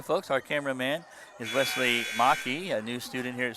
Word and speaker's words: Maki: M A K I. Macki. It's German. So it's pronounced Maki. But by Americans say Macki.